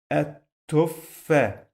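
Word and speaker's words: التفاحة: Again, I pronounce this letter 2 times. At tuffa. At tuffa. What does it mean? It means that I must add shadda here because I pronounce it 2 times.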